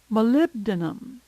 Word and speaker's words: molybdenum: Molybdenum, molybdenum. This one looks tough, but it's really pronounced phonetically.